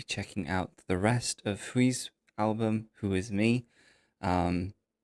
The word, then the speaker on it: Hui: his in his introduction he pronounces his name who like he says H